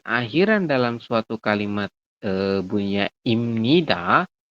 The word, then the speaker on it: 입니다: suatu kalimat bunyinya imnida, tulisannya ibnida ya. Tapi bacanya jangan ib. Masih ingat nggak kemarin di bagian tata aturan baca? Ingat ya? Masih. Ib tulisannya ibnida, tapi dibacanya adalah imnida. Kenapa, Sam? Karena biyab di akhir bertemu dengan nian di samping atau di tengahnya, maka biyab berubah bunyi menjadi M.